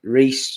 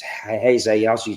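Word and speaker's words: Reis: We've got the young Brazilian kid Reese, but it's pronounced it as Heze.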